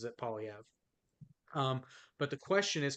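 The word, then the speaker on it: Poilievre: Like I've heard Polyevra, I've heard Polyevra. Like it, well because technically it is a French surname, so technically it would be Poliev, but yeah.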